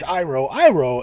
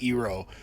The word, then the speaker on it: Iroh: were adamant right at the beginning that I pronounce Iroh, and not Ero. This is it. Because every time someone says Ero, the memory of this movie would stab them in the brain.